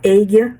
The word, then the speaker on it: Aguia: Eh, se escreve águia, se fala águia em português, eu vou falar águia no restante do da matéria, mas em inglês se fala agia research, né?